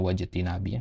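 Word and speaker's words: واجتناب: yaitu dengan melakukan perintah-perintah wajtinabi nawahihi ya ini bacanya wajtinabi ya tadi antum keliru di sini ya jadi dia ngikut ke imtitsali ya imtitsali ijtinabi ya sama-sama masdar ya kalau imtitsal itu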